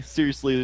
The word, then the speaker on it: seriously: and by the way seriously it's four syllables seriously McCrae I know